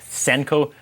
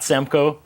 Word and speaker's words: Senkow: your last name correct I pronounced it correctly Senko not Samko talking before we started